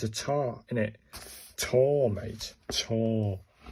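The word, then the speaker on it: た: This one's pronounced like the TA in target, so it's a tar, isn't it?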